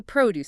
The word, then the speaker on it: produce: vegetables in the supermarket, the stress or the heavy emphasis lands on the first syllable. P R O deuce. The produce section.